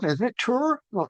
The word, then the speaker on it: Ture: Uh people say, "Well, how do you pronounce that?" Is that Tur? Well, it's ter like huray with a T.